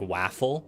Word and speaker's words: waffle: abs you'll feel better someone online pronounced waffle like like waffle the a like an apple that's Towing the line